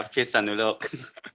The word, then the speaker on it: Phitsanulok: Did I pronounce it correctly? Phitsanulok. Yeah, Phitsanulok.